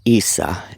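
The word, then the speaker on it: عيسى: Um, his name was Issa is how it's pronounced in the Arabic dialect in Yeshua in the Yosua or however they pronounce it in the Hebrew.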